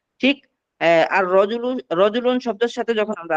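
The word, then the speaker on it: الرجل: এই যে এখানে তোয়া, তারপরে ত, র, তারপরে জা, তারপরে সিন, এই হরফগুলো হুরুফে শামসিয়া, এই জন্য আলিফ লামের ওই লামটা পড়া যায় না।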